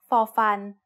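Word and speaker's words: ฟ ฟัน: The sound of Fo Fan as an initial consonant of a syllable is F, like the F in family. But as a final consonant, Fo Fan also makes a dead P stop sound.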